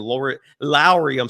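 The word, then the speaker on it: Lauri: this show has been Lowry, Markkanen. I learned just the other day his first name is pronounced like Mike Lowry from the Bad Boys movies. So Lowry Markkanen, we're all holding our breath, hoping that deal happens.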